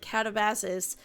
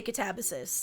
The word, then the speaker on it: Katabasis: And I initially called it catavasis and then I watched once I finished it, I watched a bunch of like booktubers and stuff talk about it and now I say catabysis because that seems to be the more common one.